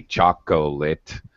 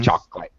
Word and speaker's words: chocolate: as chocolate there's a chocolate has a dropped syllable all right there's that middle o that we actually don't pronounce in English so we don't say chocolate we say chocolate all right which is